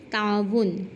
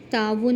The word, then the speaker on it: تعاون: طرح سے یاد ہوگا۔ اب ہے لفظ تعاون۔ تعاون میں تا جو ہے وہ مفتوح ہے، عین جو ہے وہ بھی مفتوح ہے، اس کے بعد واو کیا ہے؟